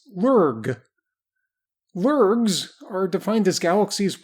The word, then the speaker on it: LIRG: luminous infrared Galaxy which astronomers often abbreviate and pronounce as lurg lurgs are defined as